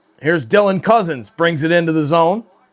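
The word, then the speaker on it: Cozens: Here's Dylan Cousins brings it into the zone. Cousins spelled C O Z Ns. And then there's number 21 Nick Cousins spelled like cousins like a family member.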